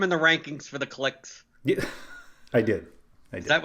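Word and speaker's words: Klich: was blown away that you pronounce his name click and not cleach and it actually made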